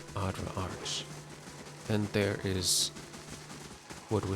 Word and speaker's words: Adra Arch: Like I said, okay, we're looking for an Audra arc, and it must be Yeah, I mean, it's already saying Audra Arc, so obvious. Arch. Sorry, my pronunciation was wrong. Adra Arch.